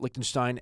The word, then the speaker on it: Liechtenstein: in the country of Liechtenstein, or as they pronounce it over there, Liechtenstein. And in this conversation, they're going to be talking about Liechtenstein as a jurisdiction.